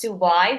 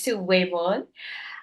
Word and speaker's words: Sue Weon: and my name is Sue weon and many pronounce Su why but it's Su weon uh I'm currently a